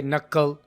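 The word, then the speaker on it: knuckle: कुछ लेटर्स या कुछ वर्ड्स ऐसे हैं जहाँ पर हम के को साइलेंट भी रखते हैं, जैसे कि नक्कल, अब पीछे इसके के है लेकिन इसको हम साइलेंट रखते हैं, मेक एंड हाइक।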